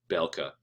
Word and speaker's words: Bielka: Bielka is, I guess it's Bielka, or Belka, is how that would be pronounced. The EI is pronounced A, Belka.